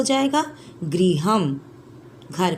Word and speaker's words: गृहं: का क्या हो जाएगा गृह हम घर का गृह हम यह जो ऊपर में अनुस्वार का चीन दिया हुआ है बच्चों संस्कृत में इसको हम मां का उच्चारण में पढ़ते हैं गृहं और इसको हम में